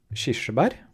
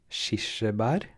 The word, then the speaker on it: kirsebær: Kirsebær som det heter på norsk. Kirsebær.